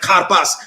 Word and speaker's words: karpas: said you know it's it's like car and pass it's like karpas he's trying to help